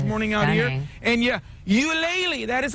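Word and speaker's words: Ulele: family is now opening you lately that's how you pronounce it folks you lately we'll take you inside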